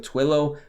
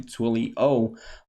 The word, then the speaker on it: Twilio: competitive is competing with twillow and is competing with amazon the one that's competing with willow this is ticker t-w-l-o and i might be pronouncing why it might be twilio but twillow it does it's a